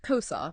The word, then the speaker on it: CoSA: the big idea behind kosa exactly and that's what we're going to dive into today it's pronounced kosa by the way oh okay little nod to the Spanish word for thing and we're going to